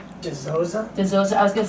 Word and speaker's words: Dizozza: Dizozza.